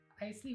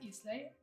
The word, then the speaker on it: Isley: My name is Isley, or you can pronounce Islay.